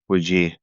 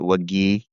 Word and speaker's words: Wajeeh: It's exactly how it's spelled. Wajih. I used to spell it with a G instead of J, but then I got people that would pronounce it Wagih. And that's more of an Egyptian accent than a Saudi accent.